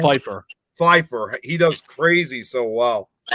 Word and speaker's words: Pfeiffer: Michelle Pfeiffer.